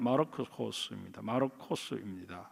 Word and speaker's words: 마르코스: 헬라 발음으로는 마르코스입니다.